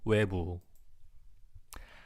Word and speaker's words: 외부: The pronunciation is just 외, like why, 외, pretty much, and 부, 외부. Outside or exterior, yeah, exactly, or external, yeah, keep it like that too, exactly.